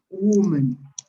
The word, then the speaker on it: woman: Between the singular, the plural, the singular, you pronounce it woman.